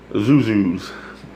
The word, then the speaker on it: XUXUX: She pronounces it Zuzu's. It's so easy when you know how.